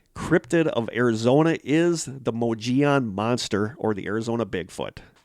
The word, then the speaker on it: Mogollon: have guessed along the moji on i always don't know how to pronounce this because it's m-o-g-o-l-l-o-n so i always want to say mogollon but it's mojion along the moji on